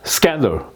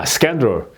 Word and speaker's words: scandal: 한 거예요 예 자 그래서 이제 액센트는 음절에 맨 앞에 온다 그러니까 여기 이제 스캔 이렇게 스 이렇게 되는 거죠 스더 예 스캔이 아니고 예 scandal 이렇게 돼야 된다는 거 예이 자꾸 발음을 연습하셔야